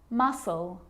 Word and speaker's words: muscle: Now the letter C can cause a few problems because it's often silent after the letter S, like in these very common examples. They're quite tricky. Muscle, muscle, scissors, fascinate, scene, scenario.